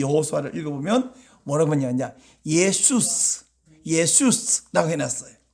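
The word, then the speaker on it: Ἰησοῦς: 70인역이라고 있는데 거기 이 여호수아를 읽어보면 뭐라고 하냐, 예수스라고 해놨어요.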